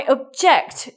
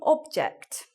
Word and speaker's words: object: I object to that disgusting object. I object to that disgusting object. Our stress here for the verb and our stress at the beginning for the noun.